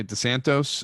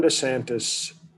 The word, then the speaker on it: DeSantis: you about this um desantis is that hey de santos is that how you pronounce his name no no i wouldn't support him if he had a latino name ron desantis desantis as i thought and he right now is